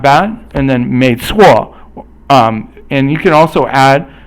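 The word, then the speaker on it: 没错: 没错 is 二声. 没 is also like 不, but then 错 is basically fourth tone. So 不错 means usually not bad, and then 没错, and you can also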